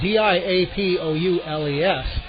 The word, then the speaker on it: Diapoules: And the starting pitcher for the South is number 24, Mike, and it's spelled D-I-A-P-O-U-L-E-S. The PA guy says it's Diapoules. I would have guessed Diapoules either way.